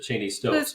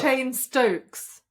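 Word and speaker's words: Cheyne-Stokes: So, I've I just pronounced it Cheney Stokes, but it's not called chain stoking at all. It's not. It's called chain stokes. That's what you said like the name chain stokes is an abnormal breathing pattern.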